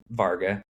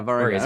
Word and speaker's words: Wargha: More like a V. It's Hungarian, so it's a little funny spelling. So, Varga. But Yeah, Varga.